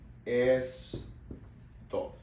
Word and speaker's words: esto: Same T sound as before. To, just with the O sound at the end. To. And then es, and then we blend. Esto, esto, esto, this.